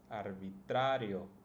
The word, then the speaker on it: arbitrario: In this case, it's always going to be the second to last. So if we count starting from the end, this would be the first syllable, yo, and the second one would be sa. So that's the one that should be pronounced the strongest.